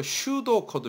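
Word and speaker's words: pseudocode: 그 4 코드 영어로 슈도 커드 비다 슈도 피는 묵음 이고 슛 어코드 자 밑에 그 예를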